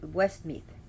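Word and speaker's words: Westmeath: center of Island I I hope I'm pronounce it West meth w s t m a t h so and it's one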